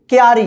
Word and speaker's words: क्यारी: पे भी आधा अक्षर रहेगा वहां पर जल्दी उच्चारण होगा यानी आपका साउंड नहीं लेंगे जैसे के के जैसे बने वाला शब्द देखिए क्यारी क्योंकि जो आधा के है इसमें और साउंड